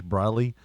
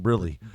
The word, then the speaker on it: Briley: But it killed me because, like it had the way that they were saying Josh Briley, like every one of them, for some reason, it's pronounced your name Brilly.